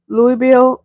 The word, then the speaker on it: Louisville: Kevin says, you have the R model Mac and the little blue Ford Louisville box truck. The S is silent.